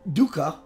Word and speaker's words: dukkha: The first kind of dukkha, it's pronounced, is the obvious suffering caused by physical